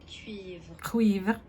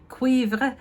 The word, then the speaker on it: Cuivre: I'm gonna try on the 01, the first one, Tweed Cuivré, and I looked it up of how to say it correctly. Cuivre. Cuivre.